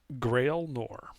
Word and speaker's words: Gralinor: wait, how's this pronounced under Gralinor? Grail Nor.